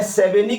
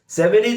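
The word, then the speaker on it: Savigny: मैं सेवेनी के बारे में भी बता देता हूं।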